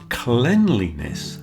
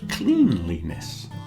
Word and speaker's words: cleanliness: Today we are discussing the topic of cleanliness pronounced cleanliness not cleanliness.